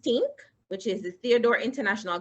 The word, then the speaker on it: TNC: Adrian founded TNC, pronounced TINC, which is the Theodore International Consultancy, to provide export training and support to SMEs interested in achieving export success.